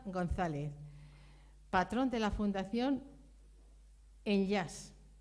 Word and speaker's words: Enllaç: patrón de la fundación en yas se escribe de otra forma pero se pronuncia así dio porque en catalán